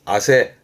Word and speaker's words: 汗: 발음은 아세.